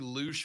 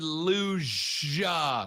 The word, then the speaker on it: luge: her face anyway big luge fan over here uh all right uh did you say shut lube championship no i said luja with a g but a soft g but not like the